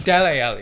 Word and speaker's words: Dele Alli: dressing room you're lazy it's deli alley well that thing is like they break i got ripped in the comments for pronouncing his names like whatever man they brought